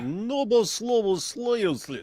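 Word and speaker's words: Новослободская: You got to say it like Novoslobodskaya, and then it sounds just more Russian.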